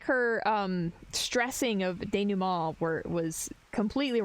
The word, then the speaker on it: denouement: Like, it sounded like her, stressing of denouement was completely wrong. Not to mention, It is she time.